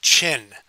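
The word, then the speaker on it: Qin: okay uh he's born in 259 BC Northwest China in the state of what is uh is pronounced chin even though it's said q n it's pronounced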